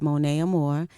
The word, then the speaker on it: Monia Amore: name is Monae Amore it gets tricky because it's spelled m o n i a but it's Mona Amore I'm from Brooklyn New